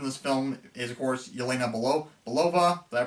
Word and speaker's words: Yelena Belova: Of course, the standout character from this film is, of course, Yelena Belova. Did I pronounce that right? Yeah, Yelena Belova.